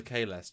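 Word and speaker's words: Kahless: Bill loves the Kalesh. Jesus Christ. Okay, Stuart, you give me your best Kalesh. Kalesh! In the name of Kalesh!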